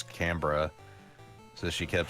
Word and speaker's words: Canberra: It's not Canberra. Yeah, it's Canberra.